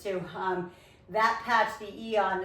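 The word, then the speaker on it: Aeon: Um, that patch, the E on, it's spelled AE, E O N, it's for brain balance and anti-inflammation.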